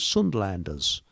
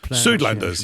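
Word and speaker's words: Suidlanders: I think they're called Sundlanders. I may have got that Sudlanders. Yeah. S ui D. Sudanders. Sorry. Yes, I pronounced it wrong.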